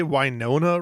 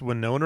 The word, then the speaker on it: Winona: them out hold on did you say wona writer when it's Winona writer wiona writer right sure